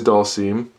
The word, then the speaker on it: Dhalsim: Then we have Dhalsim, or as my friend likes to say, Dhalsim, because he doesn't know how to pronounce it, but it is Dhalsim, or Dhalsim.